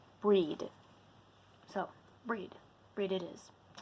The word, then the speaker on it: Brighid: breed I call her breed because I believe and correct me if you're from Ireland or whatnot but um according to what I know in Ireland it's supposed to be pronounced breed so breed breed it